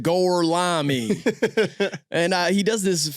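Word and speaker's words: Gorlami: He's just like gorami. That's how you pronounce it. Goreami.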